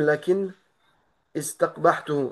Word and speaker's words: لكن استقبحته: Tu es obligé de mettre une kasra.